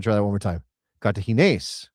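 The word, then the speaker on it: Cartaginés: Kartahene because there's an accent on the E.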